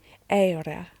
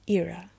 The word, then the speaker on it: Eira: I call her Eira of the Hollow Way. That's how you say it in Portuguese. But in English, it would be Eira.